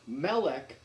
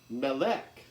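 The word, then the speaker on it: מֶלֶךְ: that way you know that's pronounced melech not malek so melech not millet so here here this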